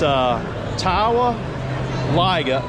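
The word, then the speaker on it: Towaliga: It's Tawa Liga. So it's T-O, spell it.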